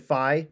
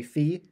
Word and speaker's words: phi: Now, some people will pronounce it phi, but I prefer to say phi. That's just the way that I was originally taught to say it, so that's how I'm